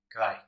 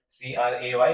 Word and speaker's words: Cray: दुनिया में सबसे पहला सुपर कंप्यूटर है CRAY, क्राई, ऐसा बोल सकते, लेकिन इसका CRAY प्रोनाउंसिएशन होगा।